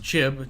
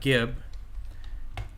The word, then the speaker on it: gib: Here's some barrels used for early jibbing, and it is pronounced jib, not gib.